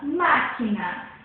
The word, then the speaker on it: máquina: A sílaba tônica é o ma. Por quê? O má é acentuado e é a sílaba falada com mais intensidade, mais alto, mais intensa.